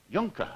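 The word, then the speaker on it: Juhnke: are you German German where you're y Yonka Yonka how do you spell it j u h n k e spell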